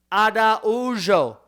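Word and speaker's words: Araújo: it you up Vivien Ado adao that's a r a ujo but when you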